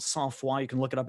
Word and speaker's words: sang-froid: It's pronounced Sans Foi, but it's spelt sang-Froid.